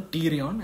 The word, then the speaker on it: pterion: EDH is called the pterion, and that's a meeting point of four bones on the lateral aspect of the skull. So remember, temporal bone, middle meningeal artery, and pterion, it's spelled with a P.